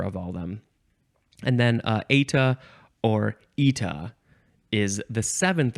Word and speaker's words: eta: This is, it's eta. Eta, that's how it's pronounced. But in Britain, and I'm not in Britain, but in Britain, they pronounce it eta. Eta or eta, and it is spelled eta.